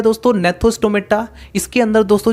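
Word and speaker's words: Gnathostomata: जी यहाँ पर थोड़ा साइलेंट रहेगा इसलिए इसकी प्रोनाउंसिएशन होगी नेथोस्टोमेटा।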